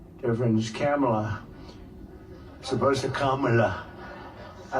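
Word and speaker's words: Kamla: It's Cam, the word cam as opposed to calm.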